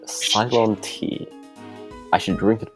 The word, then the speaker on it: Ceylon: This smells like Ceylon tea.